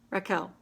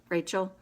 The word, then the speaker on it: Rachel: Oh, Raquel, right? Rachel. Sorry, I know a friend that pronounces it Raquel, even though it's not spelled with a Q.